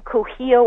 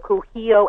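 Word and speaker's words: Kuhio: There was a place on Cujillo Avenue. It's spelled K-U-H-I-O, Cujillo Avenue.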